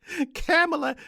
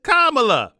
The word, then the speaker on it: Kamala: and passing camela Harris camela is kamla so that's Reverend Al Sharpton at the DNC mispronouncing kamla Harris's name now you see that